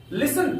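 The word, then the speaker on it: listen: लिसन please. लिसन please. लिसन का अर्थ होता है सुनना, यहां पर टी साइलेंट है।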